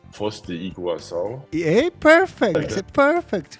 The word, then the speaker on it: Foz do Iguaçu: I don't know how to say it correctly, but I think you can say Foz do Iguaçu. Yeah, perfect. Perfect. Foz do Iguaçu.